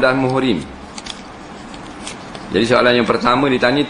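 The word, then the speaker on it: مُحْرِم: Mahram baca baris di atas. Mahram. Muhrim baca dammah.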